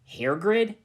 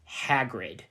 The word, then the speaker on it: Hagrid: Hairgrid? Said Ebony. It's me, don't you remember? It's pronounced Hagrid, said the giant. Whatever, Hagrid.